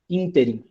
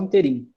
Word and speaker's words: ínterim: ou 3 colegas minhas falavam ínterim. falava como uma proparoxítona, desde o início do curso. Já conhecia a palavra e pronunciava da forma certa. De resto, todo mundo falava interim, como se fosse uma paroxítona.